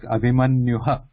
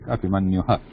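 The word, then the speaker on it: अभिमन्युः: So it sounds like Abhimanyuha, but this doesn't sound like Abhimanyuha. It should not be sounded or pronounced like Abhimanyuha. It should be Abhimanyu because Visarga sound follows that ending vowel. So follow that sound with that last vowel itself. Don't change it to Ha.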